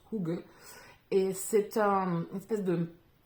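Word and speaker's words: hygge: cette culture de HUG qui s'écrit h y g g donc vous avez dû voir passer ça se prononce hou et c'est un espèce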